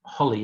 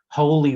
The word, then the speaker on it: holy: between each of them so this is not holly it's whole holy water or or holy objects